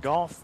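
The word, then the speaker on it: Gough: White will be back on the mound, and he sends a fastball inside to Goff, who turns away from it. Goff is spelled G-O-U-G-H. Rhymes with cough.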